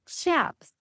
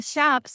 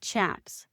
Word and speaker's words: chaps: The first one is the cowboys shaps. The shaps are the leather pants that they wear over the top of their jeans. Now, some people pronounce it chaps, but that is not correct.